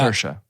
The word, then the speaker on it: Saoirse: Saoirse. Yep. Saoirse Ronan. You got it right, Tarker. She said when she hosted SNL a few years back, she said, "Remember, it's Saoirse like inertia."